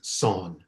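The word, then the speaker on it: Seon: japanese pronunciation became zen the korean pronunciation is son so when we say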